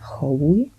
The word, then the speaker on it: Czoluch: In Polish you pronounce it Hołuj.